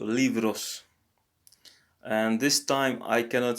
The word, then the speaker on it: libros: So the B is pronounced as a V here. So libros.